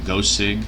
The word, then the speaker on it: GooCig: ohm tank by guess they pronounce it either go sig Lagoo sig g oo c IG that should tank their extra mr.